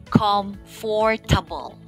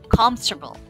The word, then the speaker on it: comfortable: good what about number five you may be pronouncing it com fortable right comfortable but it's actually pronounced as comfortable okay say it one more time comfortable very